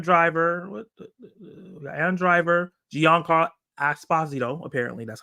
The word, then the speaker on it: Giancarlo Esposito: We got Adam Driver, Giancarlo Esposito.